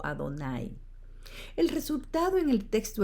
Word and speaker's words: Adonai: Cuando encontraron las letras de Yahweh en la Biblia, no dijeron Yahweh, sino que las reemplazaron por las palabras hebreas para Señor, pronunciada Adonai.